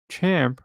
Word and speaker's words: champ: Thanks to one of my commenters who served time in Victoria, it's confirmed to mean a pedophile, as the word champ rhymes with tamp or tempera.